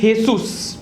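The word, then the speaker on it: Jesús: इज जीसस in English but in Mexican this is हेसू क्या बोलेंगे इसको हेसू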